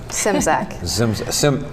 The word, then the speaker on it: Simzak: Let me pronounce it right. You pronounce it. Simzak. Sim. Yeah, I'm okay with the Z though.